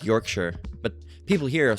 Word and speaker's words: Yorkshire: Oh yeah, like Yorkshire. But people here will say, uh, Yorkshshire. All right. Um, you know, they'll say, "Oh, you're from York Shshire, it's Yorkshire."